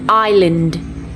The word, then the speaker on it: island: iron island iso 3 คำนี้ไม่ได้อ่านแบบนี้นะ 3 คำนี้เวลาอ่านเป็นภาษาอังกฤษออกเสียงว่า iron island isle มาดูทีละคำกันนะคะ คำแรกอ่านว่า iron iron